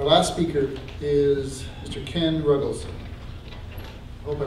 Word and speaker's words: Ruggles: Ken Ruggles. Hope I pronounced that right. You got it. Okay. Good morning. My name is Ken Ruggles, and I represent Spears Manufacturing Company.